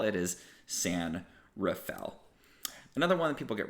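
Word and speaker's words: San Rafael: so you know how would you think to pronounce that a lot of people think San Raphael which makes a certain amount of sense that's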